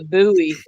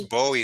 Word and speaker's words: Bowie: I was called a buoy and everybody corrected me yeah well actually you know David David Bowie well you can pronounce it either way I hear it both ways I don't think it